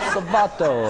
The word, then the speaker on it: Salvato: Salvato. No, Salvato. Salvato. Salvato. That's how you say it.